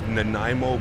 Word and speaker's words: Nanaimo: cream while I was on holidays it was Nanaimo bar ice cream I know probably a lot